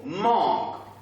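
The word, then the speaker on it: mangue: Dans ce mot, il y a combien de syllabes? Et là, nous prononçons d'abord. Allez, on y va. Nous avons ici manque. Et la deuxième partie, c'est laquelle? Go. Donc ici, nous avons deux syllabes. Si on peut répéter ensemble, nous avons man. Et la deuxième syllabe, go.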